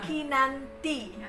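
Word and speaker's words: Kinanthi: Kinanti pakai H ya. Oke ya, bacanya Kinanti. Oh iya, soalnya TH ya.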